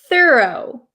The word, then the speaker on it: thorough: is American pronunciation okay I pronounce this word thorough thorough thorough thorough okay please try to repeat